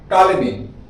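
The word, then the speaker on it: Ptolemy: Claudius, एक minute, अच्छा यहाँ पे लिखा हुआ पी है, लेकिन यहाँ पी साइलेंट होगा। Okay, how will we read it, Claudius टॉलेमी, ठीक है, क्लॉडियस टॉलेमी।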